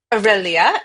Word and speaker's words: Via Aurelia: Pronounce via Via Aurelia. Aurelia, okay?